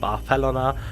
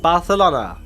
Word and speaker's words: Barcelona: that after visiting barcelona which by the way is pronounced by fellaina by its denizens barf helena not barcelona as you might think after this short linguistic